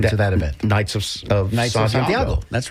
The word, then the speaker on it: Santiago: And it's pronounced Santiago, not Santiago.